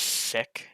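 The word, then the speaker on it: SSICK: and I'm going to guess it's just pronounced sick it's sick with two s's in the beginning sick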